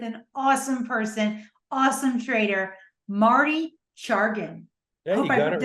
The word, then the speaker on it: Marty Chargin: I have the pleasure of being here with an awesome person, awesome trader, Marty Chargin. Yeah, you got it right. Did I pronounce it right?